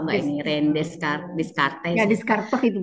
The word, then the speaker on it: Descartes: Ya, Descartes itu bacanya.